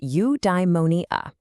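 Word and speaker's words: eudaimonia: Udimmonia. It's pronounced udeimmonia.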